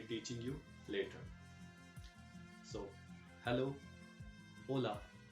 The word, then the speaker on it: hola: you later so hello hola you can hear that the initial h is silent the initial h is silent you don't say hola you say hola the next word is